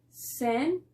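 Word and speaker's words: scent: entonces nos dice que la ce va a ser muda cuando tenemos esa de combinación la combinación es ese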